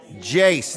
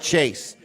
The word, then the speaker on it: Jace: Jace, not Chase.